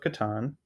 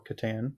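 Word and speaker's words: Catan: answers were Settlers of Katan or Katan depending on your pronunciation um soap water awesome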